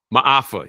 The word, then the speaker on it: Maafa: Mafa. Maafa.